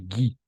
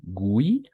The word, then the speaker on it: Guy: Bon, no, si es un apellido, y vamos a pronunciar Guy, ¿d'accord? No Gui, como, como tenderíamos a pronunciar, sino Guy, solamente Guy de Maupassant, si es un apellido.